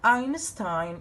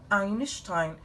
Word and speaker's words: Einstein: answer then another thing the word Einstein or Einstein can be pronounced in the two ways no problem for any of them that you are acceptable